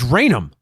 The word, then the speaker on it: Raynham: say no you you you fool it's Raynham it's random there's 19 towns ending in